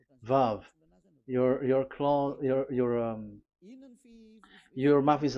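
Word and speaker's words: ו: So the word, the shape Vav is really pronounced V, like Vogue.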